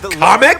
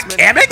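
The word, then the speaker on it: Kamek: Also, his name is Comic and not Kamik.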